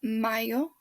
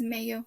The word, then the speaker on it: mayo: picture then you have mayo for may don't pronounce it as mayo it's not the mayonnaise it's just for june